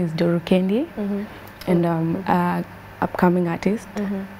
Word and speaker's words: Doro Kendi: it yeah someone don't know anyways the finite pronunciation is my name is duru kendee and i'm a upcoming artist yeah and uh